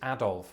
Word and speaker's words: Adolf: No, that name is Adolf, which is precisely how I pronounce it.